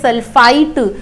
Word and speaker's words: sulfite: इसकी स्पेलिंग पर गौर करना, इट इज नॉट सल्फेट, PHATE सल्फेट होता है and it is sulfite, so it is SO3, Na2SO3.